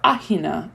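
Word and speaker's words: Aegina: was getting ready to travel to ajina or ahina as they would pronounce it so looking forward to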